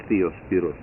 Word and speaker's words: Diospyros: Diospirus. And I had a Greek person tell me one day it's pronounced Theospiros.